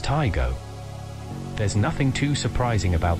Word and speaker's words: Taigo: it was first launched taigo is pronounced taigo there's nothing too surprising